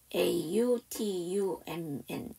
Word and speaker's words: autumn: autumn, 거기서도 n이 묵음이죠.